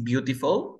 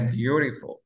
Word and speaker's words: beautiful: Beautiful, así beautiful, ¿o cómo? Mm, beautiful. Exacto. Se pronuncian como R, ¿cierto?